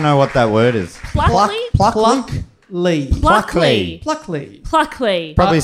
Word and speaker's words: Pluckley: Pluckley? Pluckley. Pluckley. Pluckley. Pluckley. Probably spelled with a Q or something. No, it's like pluck. P-L-U-C-K.